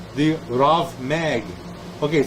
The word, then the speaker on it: rav mag: chief Authority among the Magi was called the rav mag okay it says RAB mag but it's pronounced wrath r-a-v Meg okay mag short for